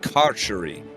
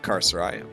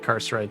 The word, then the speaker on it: carceri: It is pronounced carceri, not carcerai. I'm just the fucking worst white person in the world. I mean, It's I would have said Carcerite too.